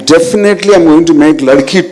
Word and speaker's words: Ladki: So in my, it's not like Ladki, it's Ladki.